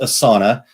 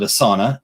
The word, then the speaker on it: Asana: it's Asin a and it is pronounced a sauna we actually took a they did a webinar training thing and so one of the people that work there call it a sauna and so we're like